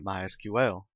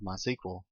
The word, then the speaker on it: MySQL: as you can tell i've been calling it mysql that is the correct pronunciation however it is also commonly called mysql if you hear it called that don't be